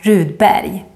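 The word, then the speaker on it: Rudberg: pronounce it like Barry in Swedish always when you see the combination RG you say more like a y sound barrier and if you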